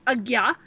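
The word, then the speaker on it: Ajna: So one of your chakras is called Agya chakra. That's spelled A-J-N-A, pronounced Agya, and that means command center.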